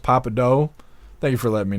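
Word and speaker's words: Pappadeaux: that happen happened noad it's pronounced Papa do thank you for letting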